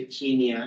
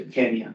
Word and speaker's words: Kenya: Out of Africa Mar Street Robert R for pronunciation of Kenya now you don't say Kenya if you go to Kenya unless you're a British settler you say Kenya that's the way the those swah speakers like